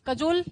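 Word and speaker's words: cajole: Cokes को इस कजोल से ध्यान रखना। काजोल है ये, कजोल, इसका प्रोनाउंसिएशन कजोल है, लेकिन हम क्या ध्यान रखेंगे?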